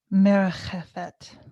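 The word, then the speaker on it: מרחפת: And that word that's used in the beginning of Genesis, merchefet. Am I pronouncing that closely?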